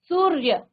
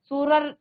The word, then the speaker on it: सूर्य: सूर्य, क्योंकि इसमें स्वर नहीं है, तो पूरा आप र नहीं बोलेंगे, सूरर या नहीं कहेंगे, लेकिन यहाँ पर आप र का उच्चारण आधा स्वर की तरह करेंगे।